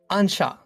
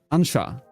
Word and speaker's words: Anxo: Please say it again. Ansha. Ansha. It is Galician.